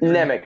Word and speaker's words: Nemec: your last name wrong Corin is it nik nik is fine it's it's been it's been mispronounced since my family first landed on Ellis Island so wait till he